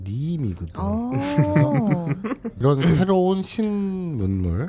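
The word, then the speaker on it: 新見: 신견. 그게 일본어 발음은 니임이거든.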